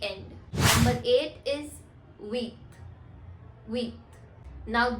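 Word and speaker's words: huit: इज वीथ वीथ now this word starts from as इन my last video I told you that when ever you have a word starting विथ एच इट will always be silent and you have to start pronounce from the next letter so here we are doing the same we are just starting विद यू एंड वी are pronounce इट एज वीथ next is number nine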